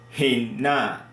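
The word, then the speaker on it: הֵנָּה: So this here, we pronounce it Hinna. Hinna, meaning we have He, and we have Sere, and we have double Nu here.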